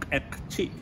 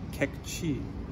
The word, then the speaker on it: Q'eqchi': It's called Q'eqchi in my accent, but it would be Q'eqchi in Spanish accent.